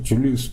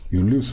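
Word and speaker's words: Julius: 독일어로 읽을 때 독일어를 J는 아마 요트죠. 요트라고 읽어야 되니까 이응 발음을 해야 되니까 줄리우스 볼프가 아니라 율리우스 볼프가 되는 게 맞는 것 같습니다.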